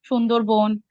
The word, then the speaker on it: Sundarbans: But also like the way I've written it makes it Sundarbans, but Bengalis would pronounce it as Sundarbon. Or But even then, had they I they just, would use the same spelling. maybe they will not use the S in that case.